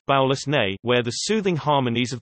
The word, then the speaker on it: Balosnee VI: Baloney Vi, a vacation planet pronounced Baulus Ne, where the soothing harmonies of the tides can cause stimulating hallucinations.